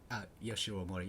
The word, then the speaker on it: Yoshiro Mori: Yoshiro Mori, is that how you say his name? Oh yeah, you're right. Yoshiro Mori, yeah.